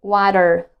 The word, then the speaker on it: water: So actually, I used to pronounce the words like computer, water with the R sound at the end of the word, but I was not focusing on the T, on the letter T. So later I've discovered that the T should be pronounced like D.